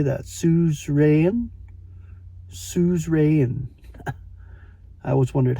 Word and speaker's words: suzerain: Suzerain? Suzerain. I always wondered how to pronounce that word.